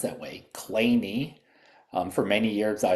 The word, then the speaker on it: Kleene: mathematician Stephen Cole Kleene, and it is actually pronounced that way, Kleene. Um for many years, I looked at this and I called it the clean star, but it really is Kleene and if you know what a Kleene star